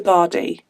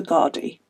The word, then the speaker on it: Gardaí: So they called the Gardaí. I think that's how you say it. So like the Irish police are called the Gardaí, not Bacardi.